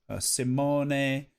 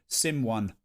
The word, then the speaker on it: Simone: Simone, Fabrizio, Fabio. Yeah, I used to call Simone Sim1 because it's spelt like that.